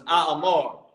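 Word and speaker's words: אמר: So like I say Amar. That's why it didn't sound right. I said that damn thing 3 times. Amar. So it's Amar.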